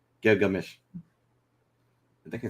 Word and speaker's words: Gilgamesh: middle of the name so it says it's gear like mesh so you we're just taking out the g uh that's in the middle of the name gilgamesh i think i said